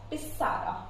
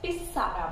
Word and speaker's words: pizarra: Next is pizarra, which means blackboard. Here it's Z. In my previous session I have mentioned that Z gives the pronunciation of S, so this we call it out as pizarra, which means blackboard.